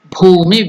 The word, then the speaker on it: Bhumi: The pronunciation is Ba is Mahaprana, not Bhu, it is Bhu, Mahaprana. Bhumi. Then Vighna. Ghna is also Mahaprana. Vighna. Nivaranam. Bhumi Vighna Nivaranam.